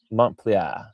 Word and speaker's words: Montpellier: Mont play. You don't say the R.